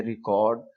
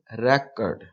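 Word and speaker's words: record: मसलन जैसे ये है, अब हम इसको कैसे प्रोनाउंस करेंगे? रैकर्ड, और इसको प्रोनाउंस करेंगे रिकॉर्ड।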